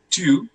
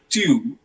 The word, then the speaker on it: tu: The second person is tu, tu. Don't pronounce it as tu. It's not like Hindi tu. Okay, it's tu, tu, tu.